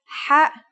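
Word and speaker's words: ح: According to phonetic charts, Ha is pronounced in a deeper part of the throat than Kha.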